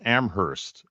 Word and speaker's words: Amherst: I'm Frank Lyman from Amherst and my friend said you know he's not from amoris because you don't pronounce the h you are flounder yeah